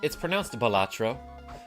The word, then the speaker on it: Balatro: Playing poker tonight, it's pronounced Balatro. Some people say Balatro.